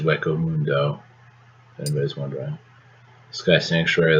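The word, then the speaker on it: Hueco Mundo: fun Naruto this is from Bleach this is pronounced wo Mundo if anybody's wondering Sky Sanctuary that's Sonic and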